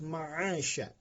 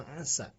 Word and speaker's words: مَعَاشًا: Nah, di sana ada naha, hak besar, kemudian yang harus ditekan juga ada ujungnya harus ma'asya. Ma'asya. Ma'asya artinya kehidupan, pencaharian. Ma'asya. Tidak boleh bacanya ma'asa.